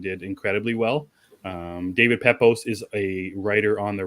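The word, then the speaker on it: Pepose: the writer David um how did you pronounce his last name pepos pepos okay I'm sorry if I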